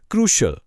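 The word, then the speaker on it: crucial: इसका सही उच्चारण है क्रूशियल।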